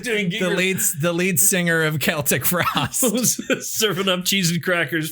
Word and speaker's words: Celtic Frost: Yeah, Celtic Frost. Yeah. Hey, you said it right. Yeah, fuck you. You can say it correctly, bastard.